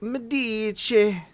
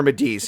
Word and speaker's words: Medici: You're starting to get more of the mystery of Medici. Or Medici, if you want to say it correctly.